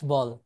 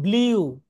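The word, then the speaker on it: blue: হবে, ও বলবে এই আল্লাহর বান্দা কি চাস বল।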